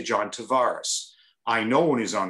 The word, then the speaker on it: Tavares: i'm john tavares and everybody in toronto tavares tavares and i hear him say it's john tavares i'm listening to him